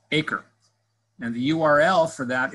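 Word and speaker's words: 8CRE: It's abbreviated number 8, CRE, and it's pronounced ACRE.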